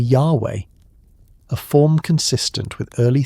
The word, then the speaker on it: Yahweh: Modern scholarship, returning to older linguistic evidence, suggests that the original pronunciation was likely Yahweh, a form consistent with early theophoric names like Yahosua, Joshua, or Yhonatan, Jonathan, which preserve the divine element.